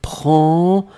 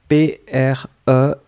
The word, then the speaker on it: prends: It's je prends remember, you don't put, I mean, you don't pronounce the S and you don't pronounce the D, but it should be there. P-R-E-N-D-S.